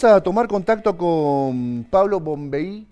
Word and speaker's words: Bonvehi: ¿Pablo Bombeí o Pablo Bombejí, para pronunciarlo bien? Es Bombeí.